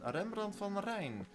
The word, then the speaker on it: Rembrandt van Rijn: And then over here we got Van Gogh, that's how you pronounce that, and Rembrandt van Rijn, that's how you pronounce that, if you were wondering.